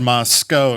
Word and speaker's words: Moscow: Pronounced Moscow.